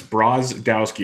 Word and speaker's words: Brozdowski: Lance Brodowski. Is that how you say his last name? I've had him a few times. It's Brozdowski. It's like it's spelled.